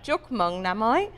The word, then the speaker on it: Chúc Mừng Năm Mới: Chúc Mừng Năm Mới.